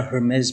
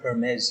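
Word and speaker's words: Hermès: he bought a Hermes bag, right? But he didn't pronounce it Hermes. He said Hermes. Hermes. Yeah. He pronounced like a Greek god or something like that.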